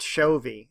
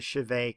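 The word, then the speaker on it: Chauvet: In French, it is pronounced Chauvy, and so if you get some recordings or see some video from France, it's the Chauvy Cave. But in America, we tend to mispronounce those words, and we call it the Chavez Cave.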